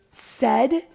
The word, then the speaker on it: said: sort of like combinations it's spelled a i but it makes the sound of e so you're going to see phonetically when kids are writing this out down said but you want to